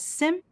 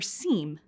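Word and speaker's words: SIEM: activities in an organization the acronym s IEM may be pronounced as Sim or se but we'll use sim throughout this program Sim tools collect real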